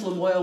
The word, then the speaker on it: Lamoille: It's also great because it's about the Lamoille River, and it rhymes Lamoille with toil, which I think is a hoot.